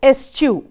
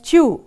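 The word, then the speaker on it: eschew: of her drafty house the next word is s chew children pronounce it with me as chew yes what does it mean it means avoid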